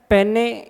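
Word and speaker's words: peneplain: सा अपरदन से देखो एक तो है पेने या पेनी पेने प्लेन इसी को पेनी प्लेन भी कहते हैं। इसकी स्पेलिंग आती है पी ई एन ई पी एल ए आई एन तो इसको कोई पेने पढ़ लेता है। कोई पेनी पढ़ लेता है तो इसमें कोई कंफ्यूज मत हो जाना।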